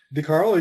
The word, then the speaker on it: DeCarlo: DeCarlo, you got it.